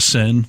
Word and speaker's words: Seine: I mean, having everyone float down the Seine, am I saying it right?